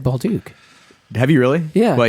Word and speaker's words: Bolduc: no you pronounce it bulu because you're in America yeah okay I've always said Bal Duke have you really yeah well yeah you're doing it correctly it's French Canadian awesome H was just